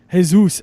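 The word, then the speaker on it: Jesús: just Aguilar or JIT hey Zeus Aguilar I believe is the actual pronunciation 282 Orlando or C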